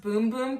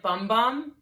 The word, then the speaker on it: Bum Bum: sol de janeiro brazilian it's pronounced boom-boom cream but it spelled like bum bum so whatever you want